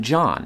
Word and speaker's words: John: language which is why the name john has a silent h in it to this day but